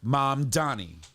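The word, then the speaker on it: Mamdani: And by the way, my name is pronounced Mom Donnie."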